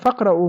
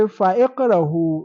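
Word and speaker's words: فاقرأ: Faqra, like in the Holy Quran, Faqra'u ma tayassara min. You don't say fa'iqrahu.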